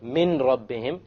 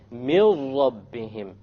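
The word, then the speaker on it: مِنْ رَبِّهِمْ: So you don't say min rabbihim, you drop it. You drop the noon and you merge the meme with the ra. And you say, mil rabbihim, mil rabbihim, immediately.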